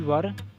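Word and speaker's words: were: हम जा रहे थे, वी वर गोइंग। इसको वेयर नहीं पढ़ेंगे, वर पढ़ा जाता है। इसका प्रोनाउंस इसका वर है।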